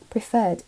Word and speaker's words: preferred: preferred 이 단어 또 나왔죠. 알 발음은 또 안 나고 아까 맨 처음에 나왔을 때가 Princess Charlotte preferred being called Charlie.